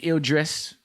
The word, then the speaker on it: Idris: writer okay and then it takes actors dancing Idris right that's how you say his name damson